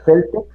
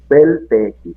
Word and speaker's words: Celtx: Según yo, se pronuncia Celtex, se escribe Celtx, o algunos lo pronuncian Cels o Celtex, ¿no?